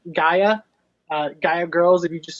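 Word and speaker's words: Gaea: It's spelled G-A-E-A, Gaia.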